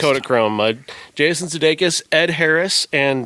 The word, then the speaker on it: Kodachrome: Is that what it's Yes, pronounced? Kodachrome.